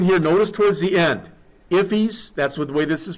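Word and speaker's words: IIFE: They talk in here, notice towards the end, ifs, that's the way this is pronounced, that's in immediately invocable function expression.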